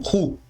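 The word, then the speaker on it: הוא: Esta palavra pode ser transliterada como ru, significando ela é lida como ru. O H é mudo e significa ele.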